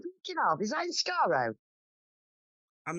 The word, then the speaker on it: Skaro: I think it's I think they're on Sakat, the Daleks' homeworld. I always forget how to pronounce that place. And Missy's there as well. Skaro, thank you.